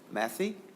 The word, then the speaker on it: Matthey: We will now go to Samantha Matthey. Is that how I pronounce your last name? Yes, you pronounced it correctly.